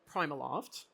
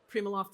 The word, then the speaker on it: PrimaLoft: Um, so my role at at Primaloft, um, just a slight comment, Primaloft is how we produce how we pronounce it. Primoloft is also acceptable, but I tend to work for brands that are hard to pronounce.